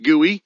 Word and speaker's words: GUI: GUI, pronounced gooey, stands for graphical user interface.